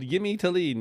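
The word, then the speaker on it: Jimmy Thelin: a fine gentleman called yimy Talen you spell his name Jimmy but it's pronounced Yim and so I'm going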